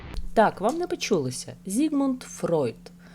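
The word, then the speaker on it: Freud: вам не почулося Зігмунд фройт Саме так вимовляє свою прізвище вчений у документальному фільмі що транслюється у Лондонському будинку-музеїв фройда на марсілд гарденс питання як вірно вимовляти українською фройд чи Фрейд втрачає свою актуальність оскільки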